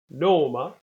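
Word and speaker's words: Naame: Although this is spelled with the double A sound, the aw sound, I would say most speakers I know say it as a kind of an O sound.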